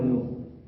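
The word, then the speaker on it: ν: এর উচ্চারণ হবে নিউ।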